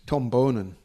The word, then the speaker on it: Boonen: won Het Nieuwsblad, amazingly, Tom Boonen. Tom Bonen. It's Tom Bonen. You should know that by now, Richard.